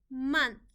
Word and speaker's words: month: Month, M-A-N-Th, month. The O in this word is making a short U sound, and we just need to remember that by heart.